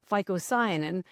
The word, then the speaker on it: phycocyanin: One that you're familiar with called chlorophyll, that's the green pigment, but it has this other one called phycocyanin, and that's spelled with a PH.